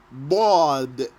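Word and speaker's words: ض: that's for the letter baud arabic language is called lula bod the language of the bod the way of pronouncing baud is by pressing your tongue the side of your tongue against your molars so the spot of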